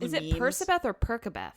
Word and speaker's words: Percabeth: Is it Percabeth or Percabeth? It's Percabeth. It's phonetically Percabeth.